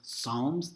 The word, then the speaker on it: Psalms: music so songs but it's pronounced Psalms the P is silent you could pronounce it